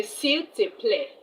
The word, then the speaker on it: s'il te plaît: You say s'il te plaît.